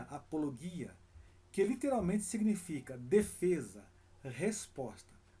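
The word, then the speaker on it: ἀπολογία: Que no grego se pronuncia apologia, que literalmente significa defesa, resposta.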